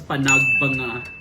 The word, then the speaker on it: Panagbenga: It is, they said it is actually pronounced as PANAGBENGA Festival.